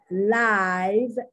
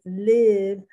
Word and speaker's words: live: is smaller than little this can either be live l-i-d-e-i uh long or it can be live where the eye is short i don't know because